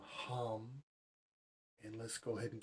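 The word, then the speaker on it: ham: Its sound is hum, H-A-M, hum.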